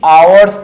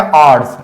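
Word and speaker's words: hours: तो इसके लिए आप यूज कर सकते हो इन the early आवर्स of Saturday. और इसका उच्चारण क्या आएगा? आवर्स।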